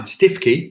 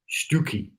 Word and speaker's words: Stiffkey: Now, Stiffkey, if you ever go to Norfolk, don't call it Stiffkey, Stookie.